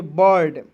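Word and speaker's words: bird: चलिए उसके बाद यहां आप देखेंगे बी आई आर डी तो इसे बीड नहीं पढ़ेंगे। इसे पढ़ेंगे बर्ड।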